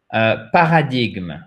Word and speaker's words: paradigm: Et en fait, le G ne se prononce pas et vous avez l'accent tonique sur la première syllabe.